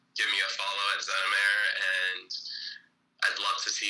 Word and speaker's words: Xenameir: How do you pronounce it? Xenameir. Xenameir.